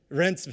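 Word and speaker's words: Reinsve: Please pronounce. Rensve, thank you.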